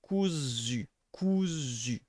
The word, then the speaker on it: cousu: notice that your tongue, it's a cou, so that's something like here, and then it's a zu. The z sound is pronounced somewhere here. It's alveolar, and so your tongue will be forced to going a bit front. Cousu, and the vowel will be pronounced in the same spot.